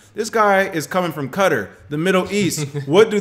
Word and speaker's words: Qatar: John Truby, the director of the Center for Law and Development at Qatar University, or Qatar, depending on how you pronounce it. Pronounced Qatar, though, for those who know.